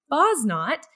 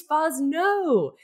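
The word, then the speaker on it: Fosnot: the wind and saying it's not boz not it's fuzz no because for all of that time we had been saying her name incorrectly do you remember that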